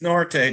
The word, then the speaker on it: Norte: It looks like Norte, but it's just Nort, I guess. I'm a It's Norte, Jack. It's just that we can't pronounce Spanish words very well.